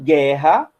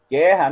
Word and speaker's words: guerra: Em guerra, a gente tem esse U aí, guerra, né? G-U-E, guerra. Só que a gente não pronuncia o U. Né? A gente fala guerra, a gente não fala guerra.